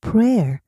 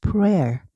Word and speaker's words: prayer: 기도하다 할 땐 pray. ay가 ae예요. 그래서 pray가 되는데 기도하다가 되면 에로 나와요. 그래서 prayer prayer 돼요.